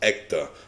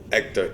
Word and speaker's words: Ekta: we got this one i believe it's pronounced ecta okay this one was